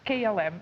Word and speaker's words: KLM: just what is Clum it's not Clum it's km and that stands for